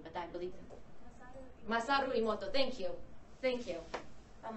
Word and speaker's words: Masaru Emoto: Imani Mosoto. I keep mispronouncing his name, but I believe him. Masaru Emoto, thank you.